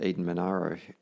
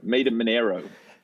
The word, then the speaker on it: Eden-Monaro: Last Saturday we had the federal by-election in the southern New South Wales seat of Eden-Monaro, in which Labor's Kristy... Eden-Monaro. It's pronounced Monaro.